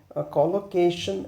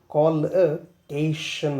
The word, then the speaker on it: collocation: ಯಾವ ರೀತಿ ಪ್ರೊನೌನ್ಸ್ ಮಾಡ್ತೀವಿ ಇದರ ಪ್ರೊನನ್ಸಿಯೇಶನ್ ಏನಪ್ಪ ಅಂದ್ರೆ ಕಾಲಕೇಶನ್ ಮೋಸ್ಟ್ ಆಫ್ ದ ಟೈಮ್ ನಾವು ಏನ್ ಮಾಡ್ತೀವಿ ಇದನ್ನ ಅಂದ್ರೆ ಕಲೋಕೇಶನ್ ಕಲೋಕೇಶನ್ ಅಂತ ಓದ್ತೀವಿ. ಬಟ್ ಸರಿಯಾದ ಒಂದು ಉಚ್ಚಾರಣೆ ಏನಪ್ಪಾ ಅಂದ್ರೆ ಕಾಲ್ ಅಶನ್ ಅಂತ ಹೇಳಿ ನಾವು ಇದನ್ನ ಪ್ರೊನೌನ್ಸ್ ಮಾಡ್ತೀವಿ.